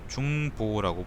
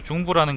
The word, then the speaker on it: 중보: 제나라의 환궁은 관중을 제상으로 등용해 중보라고 부르기로 마음먹었고 여러 신하들에게 명령을 내려 말했다. 중보라는 거는요, 중이 버금간다 그럴 때 중일 거예요. 버금간다. 그리고 보자가 아비보자인데 아비보, 옛날에는 보라고 읽었거든요. 지금 부라고 읽죠. 그래서 중부라는 거는 이제 아버지의 버금갈